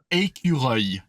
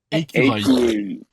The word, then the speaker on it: écureuil: And you have a word like that in French that ends with that sound.